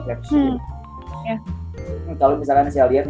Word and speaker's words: Crépuscule: Ini keren sih, Crépuscule ya, dibacanya Crépuscule.